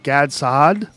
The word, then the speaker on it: Gad Saad: you could follow Gad on Twitter it's uh Gad sad I say it right yep GS a g